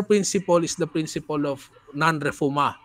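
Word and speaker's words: non-refoulement: Okay, the core principle is the principle of nonrefuma. Okay, that's the pronunciation there. It's nonrefuma.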